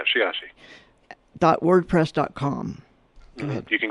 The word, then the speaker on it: Sheyahshe: And you have a great website under Michael Sheyahshe. Did I say it right? Yes, you did. Yeah, Sheyahshe.